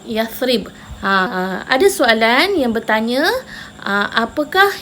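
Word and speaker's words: يثرب: Dulu Madinah dikenali sebagai Yathrib. Ejaannya macam mana? Huruf ya, fa, ra, ba. Yathrib. Sebut Yathrib.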